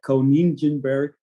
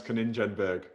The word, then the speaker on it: Konijnenberg: my last name conan in english i will probably pronounce it like coningenberg that's how i would say i i would say kaninjenberg yeah you can find